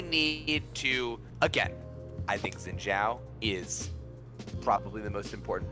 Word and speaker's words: Xin Zhao: dave thank you for noticing i'm only saying xin zhao right because i said it wrong forever and